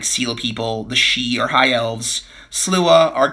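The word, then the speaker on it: sidhe: The sea, the shei, it's pronounced the shei are like the high elves.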